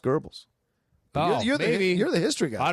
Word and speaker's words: Goebbels: gurbles Joseph Goebbels yeah was spelled Goebbels but if those pronounced gurbles oh you're the history